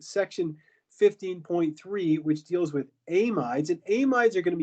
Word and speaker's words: amide: But if we have a carbonyl adjacent to that NH2, then this is called an amide. Sometimes people pronounce it an amide. If you're British, they call it an amide.